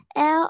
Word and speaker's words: all: Blue and pink are children's clothing colors all around the world. Okay, now you have to pronounce this as all. Not L, okay? Not L. All. All. All.